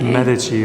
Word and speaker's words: Medici: And it had the Medici symbol on it, which is also, how would you say it in English? Because we were told this yesterday. Medici is how you should say it, but you'll